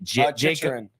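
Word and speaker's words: Chychrun: Chichurin.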